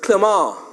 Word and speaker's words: Clement: The accent is on the first E, so it's Clement.